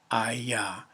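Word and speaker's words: היה: it is spelled hey yod hay it is pronounced i yah and the only way the only way for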